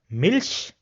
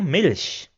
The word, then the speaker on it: Milch: In all the other cases, it will be pronounced as sh. For example, ich, which means I. So it is pronounced as ish. Then we have Milch, which means milk, so Milch.